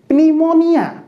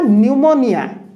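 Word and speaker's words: pneumonia: ओ एन आई ए प्नीमोनिया प्नीमोनिया नाही पी टा को साइलेंट करिया को एन आगरु पी थिले पी टा को साइलेंट करिबा ओके तो एठी कोन हला न्यूमोनिया पढा जीव कोन निमोनिया निमोनिया ओके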